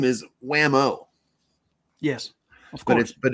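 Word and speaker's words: Whameaux: yeah his name is Wham-O yes of course but it's but it's spelled it's not like whamo the toy it's French it's w-h-a-m-e-a-u-x yes right like Wham oh fancy fancy WeMo yeah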